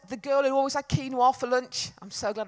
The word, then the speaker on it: quinoa: holiday it wasn't the girl who always had quinoa for lunch I'm so glad to pronounce that properly I do love a bit